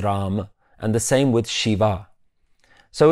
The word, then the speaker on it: Shiv: Now, when we look at the word Shiv, the actual word is Shiv. It's a small A, but a lot of the times you'll also see Shiv pronounced as Shiva.